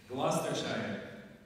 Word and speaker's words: Gloucestershire: Gloucestershire, in the United Kingdom, as well as a bachelor's degree in information and computer science from the University of California.